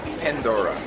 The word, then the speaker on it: Pandora: Em inglês eles falam Pandora.